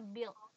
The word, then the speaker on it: build: Cuman yang ini kalau build ini U-nya itu enggak kelihatan. Jadi bacanya build.